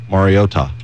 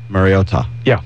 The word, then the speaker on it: Mariota: We found out. Mariota. Mariota. Yeah. Mariota. Yeah, that's it.